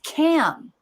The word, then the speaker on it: camouflage: It's camouflage. Camouflage. 3 syllables.